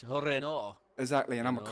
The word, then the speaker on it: Renault: It's French, isn't it? It's Renault.